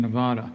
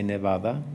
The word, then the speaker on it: Nevada: find that they are quick to tell us we're mispronouncing it when we use the Spanish pronunciation and say Nevada or snowfalling what what